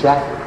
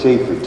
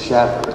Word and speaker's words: Shaffer: You know, he pronounces it Schaffer. Schaffer. I was pronouncing it Schaefer too. Okay. But it's Schaffer.